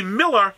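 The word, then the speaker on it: Millar: automatically assume it's Milan don't realize that in another country that still speaks English that spells the English the same way too that malar is would be Miller which we would spell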